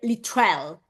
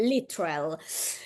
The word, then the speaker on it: Littrell: a quanto Ah neanch'io in America sbagliavano a pronunciare il cognome di Brian dicendo se non ho capito male lit trell Eh sì sì sì sì io genu io da italiana che italiana l'ho pronunciato bene anch'io da italiana che non sapeva una parola di inglese all'epoca l'ho sempre pronunciato giusto Comunque a quanto pare è lital quindi nato il 20